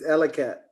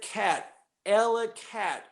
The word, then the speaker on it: Elackatt: It's Elackatt. There you go, we got it. Any other couple of questions in the audience there? Remember, 12th of the alphabet cat, Elackatt.